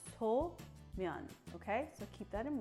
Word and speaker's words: somen: So some people might pronounce it as Somen, but it's not. It's So-myeon, okay?